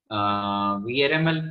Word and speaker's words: VRML: one the aml format vrml format is virtual reality modeling language it is pronounced by its initials uh in 1995 and